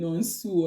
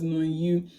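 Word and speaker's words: Nam-gyu: Because I think Thanos used to call him Non-Su or something, and his name was Non-Yu.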